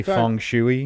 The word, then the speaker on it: feng shui: It's bad feng shui." Oh. You guys know that? Wait a minute. You say croissant and basil, but you say feng shui.